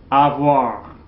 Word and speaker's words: avoir: Again, the infinitive is pronounced avoir, avoir, okay?